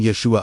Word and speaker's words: Yeshua: from head to feet, speaking the name Yeshua aloud using the proper Aramaic pronunciation. Yes. The first syllable Yah should be spoken from the heart center with sense of opening and offering vibrating through your chest. The second syllable shoe carries the emphasis spoken powerfully from the